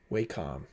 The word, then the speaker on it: Wacom: How to pronounce Wacom. Wacom. Wacom. Wacom.